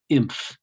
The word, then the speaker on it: inf: And you write it like that, I-N-F, and I'll pronounce it imph. Imph of E, short for infimum.